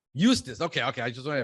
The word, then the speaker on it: Eustis: How do you pronounce the name of your city? Eustis. Eustis.